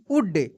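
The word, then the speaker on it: would: ओ यू एल डी वुड एल यहां पे silent रहेगा अगर किसी वर्ड में ओ यू एल डी एक साथ लगा हो वहां पे एल साइलेंट रहेगा जैसे वुड अगर लिखा रहता सी ओ यू एल डी तो कुड पढ़ते यहां पे वुड पढ़ रहे हैं।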